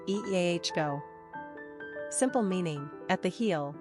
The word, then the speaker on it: Iago: number of syllables three ranking popularity not applicable pronunciation eah go simple meaning at the heel one who supplants